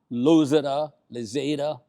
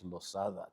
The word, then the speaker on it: Lozada: You know, Ray, that's part of the Puerto Rican experience because I was a loada. Loser lea and like you had to remind people at all the time. No, it's loada. Three syllables.